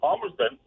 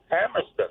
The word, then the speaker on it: Palmerston: to me and most people I know it's Palmerston, but if you're in town, yeah, it's Pameston.